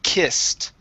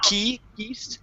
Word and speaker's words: kissed: lauda was uh was only the word kissed okay so instead of key east okay we kiss again